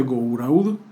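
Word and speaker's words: Gouraud: expliqué también está en de garu que se pronuncia go raudo que utiliza la intensidad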